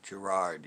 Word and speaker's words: Gerard: roll guy richie gerald butler gerard butler right gerard yeah not joe gerard yeah gerard butler isn't